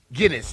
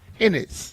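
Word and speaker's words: San Ginés: It's not Guinness. It's Hennis.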